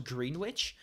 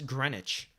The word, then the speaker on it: Greenwich: Fun fact, it's Greenwich, not... I always thought it was Greenwich, probably because I'm not British, but it's Greenwich. You don't pronounce one of the E's or the W.